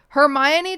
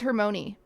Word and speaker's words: Hermione: new name for it hermione to me was always hermony i'm very weird it's